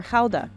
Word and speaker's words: Gouda: More than half of it is Gouda, or Gouda, as it's pronounced here.